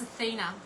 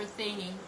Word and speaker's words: Athena: This card is Goddess, the Goddess, you can see here we've got Goddess Athena in this card, or Athene, or Athene. She's pronounced in many different ways.